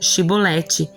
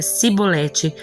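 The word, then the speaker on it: shibboleth: Se o homem negasse, eles o mandavam dizer Shibolete. Se ele era de Efraim, dizia Sibolete, pois o povo de Efraim não consegue pronunciar essa palavra corretamente. Então eles o capturavam, matavam no lugar da travessia do Jordão.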